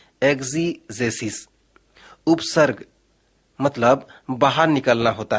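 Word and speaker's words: ἐξήγησις: यूनानी भाषा में एक शब्द है जिसका उच्चारण होता है एक्जीजेसिस।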